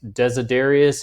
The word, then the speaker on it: Desiderius: That is how you say those two names. Desiderius is his first name. Erasmus is his last name.